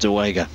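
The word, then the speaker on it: Dołęga: It is actually spelled De Liga, but pronounced De Wenger.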